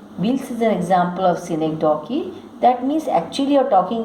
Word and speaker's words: synecdoche: A synecdoche, pronounced synecdoche, is a member of the figurative language family.